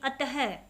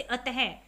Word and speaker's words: अतः: विसर्ग, इसका उच्चारण ह की तरह होता है, जैसे यहाँ पर है अह का चिन्ह, ये दो बिंदी होता है, जैसे अतः, पुनः, प्रातः आदि।